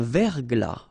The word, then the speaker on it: verglas: Un verglas, final S not pronounced.